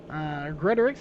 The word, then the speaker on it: Gretorix: Gretorix, I believe is how you pronounce it now. I got the correction on that.